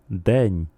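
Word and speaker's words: день: Día en ruso suena y en ucraniano deñ.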